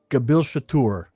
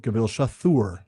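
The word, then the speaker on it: Gabil Shathûr: After reading the appendix on the languages, the TH in Kuzdul is pronounced like a TH as two separate consonants. Same with it's an aspirate. So Kazad instead of Chazad, and Gabil Shatur instead of Gabil Shathur.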